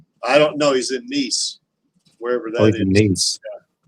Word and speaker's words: Nice: He's in Nice.